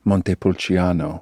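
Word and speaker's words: Montepulciano: So, one of the naked wines that we opened was a a nice Italian Monte Pulchiano. Oh, I love that pronunciation.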